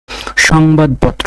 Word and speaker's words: সংবাদপত্র: তকাত তয় হসন্ত তয় চন্দ্রবিন্দু আকার এইভাবে আমরা উচ্চারণ করে থাকি সংবাদপত্র সংবাদপত্র আমরা সংবাদপত্র যখন লিখি এই শব্দটা লিখি